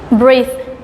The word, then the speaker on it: breathe: 8 1 8 furnishing as a verb we pronounce it brief all right so like breathe like we try to act we try to like have the air in and out of our land right